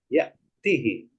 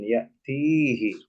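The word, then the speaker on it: يأتِ: ah berarti ynya dibuang yatihi Bukan yatii tapi yatih oke nah kebetulan Man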